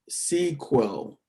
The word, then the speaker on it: SQL: so structured query language sql is pronounced as sequel right as you guys